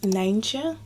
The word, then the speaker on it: Nijntje: They're called Nijntje. But that's of course quite difficult to pronounce for English people, so in English it's Miffy, but in the Netherlands originally it's Nijntje.